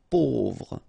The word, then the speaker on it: pauvre: A-U together will produce this O sound. Pauvre.